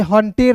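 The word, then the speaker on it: hunter: होता है दोस्तों र हंटर इसे हंटेर नहीं पढ़िएगा कहीं-कहीं दोस्तों ई साइलेंट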